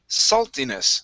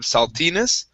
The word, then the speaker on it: saltiness: very nice now that's this last word here is pronounced saltiness so the stress is at the very beginning instead of saltiness saltiness saltiness good one